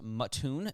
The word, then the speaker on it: Mattoon: It apparently is pronounced Mattoon, Illinois.